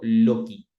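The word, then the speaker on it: loci: los lugares o Método loki en latín la c es se pronuncia como la k e y en esos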